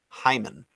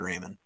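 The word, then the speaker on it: Raimann: just learned that his his name is actually pronounced hyman yeah it's spelled with an r so it's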